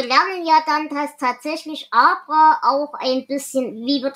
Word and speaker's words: Abra: ja dann, dass tatsächlich Abra auch ein bisschen, wie wird der Name eigentlich ausgesprochen? Abra, wie Abra Kadabra. Okay. Also Abra.